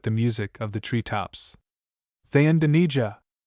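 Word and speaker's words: Thayendanegea: Thayendanija. Footnote, pronounced Thayendanege.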